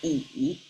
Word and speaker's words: 已: This one is pronounced as yi, but it means completely different.